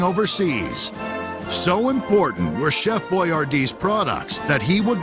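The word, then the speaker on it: Boyardee: Uncle Hector wanted to make sure that people pronounced his name properly, so he had it hyphenated to B Y- A- D E. By 1941, Chef Boyardd products were national, but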